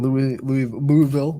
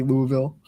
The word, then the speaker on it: Louisville: of the Roses in Louisville. Want to say it right for the people in Kentucky? Louisville. It's not Louisville.